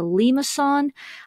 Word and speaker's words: limaçon: If you're taking French class, you probably can pronounce it much better than I can, but it's a limaçon, and that one looks like a cardioid, but it does have that loop.